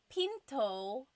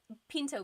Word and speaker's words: pinto: p that's door P do you hear the gladle stop when I say p so it's not Pinto it's not pinto beans right it's Pinto it's Pinto Pinto make sure you stop it at the end pin okay and then hugan